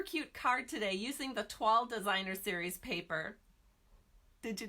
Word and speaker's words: toile: I've been practicing, so I know how to say toile now. It's not toile, which is how I've wanted to pronounce it for years, which is why I never pronounced it because I knew it was wrong.